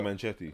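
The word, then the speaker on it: Naga Munchetty: Yeah, Naga Naga. Manchetti.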